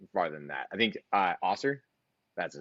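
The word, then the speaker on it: Ausar: I think Osser, that's his name. Asar, Right? yeah. Asar, thank yeah.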